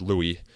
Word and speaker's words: Louis: I guess the Louis confusion is pretty common, but Jeff assures me that it is pronounced Louis, so that's what I'm going to use here in this introduction.